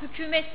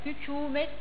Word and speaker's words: hükümet: üzerinde şapka vardı o ik uun üzerindeki şapkayı Biz zamanla nokta yaptığımız zaman hükümet diye okundu ama 2 uun üstündeki şapkayı geri koyduğunuz zaman o zaman o hükümet diye okunur bizim Aslında Türkçede de Q